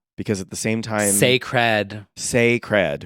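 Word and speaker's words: Cécred: at the same time Saed Saed which we've decided that is how you say it that is yes like yeah sacred get it SE Noir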